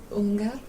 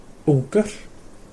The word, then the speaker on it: ungur: Þú ungar. Ungar. So one man is going to be on the end. So þú ert ungur. Þú ungar. Ungar. So it's a sound at the end.